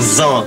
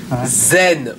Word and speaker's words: zen: Zan, capitaine, japonais, Zan. Zen, on prononce zen.